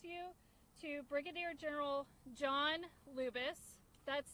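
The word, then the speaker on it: Lubas: comments and we'll turn it over to General Lubis. Uh, good afternoon, ladies and gentlemen. My name is Lieutenant Colonel. That's spelled.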